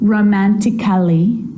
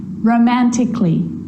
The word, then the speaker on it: romantically: so I'm not pronouncing romantically musically and logically cut the a out get rid of it romantically musically logically now there's